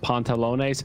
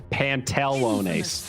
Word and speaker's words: pantalones: point on an exam because i pronounced pontalone's pantelone i did an e instead of an a in the middle and i got a minus two for that it's pontalones two a's wow don't get it